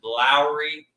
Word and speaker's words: Lauri: man is Lowry marinin people used to pronounce his name Lori even I did but his name is Lowry marinin and it's time to